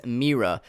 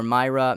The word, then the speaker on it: Mira: Mira Mira or mayra not sure how to pronounce that i'm going to say mera just because I think that's how it sounds but I'm not sure you can correct me if I'm wrong but I'm going to pronounce it as Mira it's mi RA anyway she's the defensive